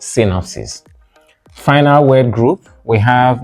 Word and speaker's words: synopsis: syis synopsis summary summary synopsis means summary synopsis not synopsis final word group we